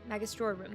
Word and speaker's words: Magistrorum: Magistrorum, that's what that's how you say it.